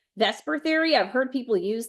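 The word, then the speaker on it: VSEPR: going in right like if you say Vesper and you spell Vesper the way Vesper is spelled that's not going to help you so VPR Theory and molecular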